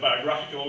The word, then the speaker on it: biographical: In biography, the stress is on that syllable, the syllable O, whereas biographical, it's on the half part, the graph part.